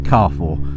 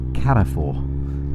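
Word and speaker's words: Carrefour: called it something like cfor we thought I've would been saying it wrong all these years but of course it is a French Supermarket I looked it up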